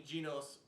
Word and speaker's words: Genos: In English dub, they pronounce it Genos. Genos. So, let's go with Genos.